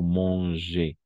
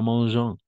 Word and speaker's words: mange: Et vous mangez, d'accord? Vous mangez, tel quel. Vous mangez. Ici, on va prononcer les terminaisons. Et une fois encore, il ou elle mange. D'accord? Mange. Mange. Pas mangeant. Mange.